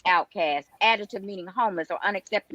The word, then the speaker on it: Outkast: American system too long, Outkast, pronounced Outcast, adjective meaning homeless or unaccepted in society.